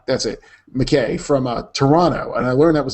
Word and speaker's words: Toronto: it McKay from uh Toronto and I learned that was the proper way to pronounce it Toronto you never pronounced a second T has been busy working